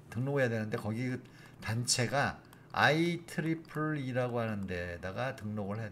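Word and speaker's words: IEEE: 등로 해야되는데 거기 단체가 아이 트리플 이라고 하는 데다가 등록을 해야 됩니다 2 가 세계 라고 해서 트리플 이라고 발음합니다 그냥 ie 라고 발음하지 않습니다 i 트리플 이라고 발음합니다 그래서 it 풀리의 등록을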